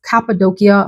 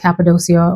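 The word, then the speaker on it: Cappadocia: that video so anyway I didn't know how to say it it's capid doia I was was saying like capid doia or something so the fragrance for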